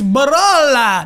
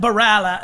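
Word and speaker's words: Barolo: Italy and be like, it's Baralla, not Baralla.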